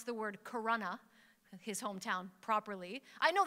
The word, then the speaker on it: Corona: So after a few minutes of this, the commentators started to pronounce the word Corona, his hometown, properly. I know this because I grew up near there, so when they said Karuna, I was like, you guys are taken by surprise.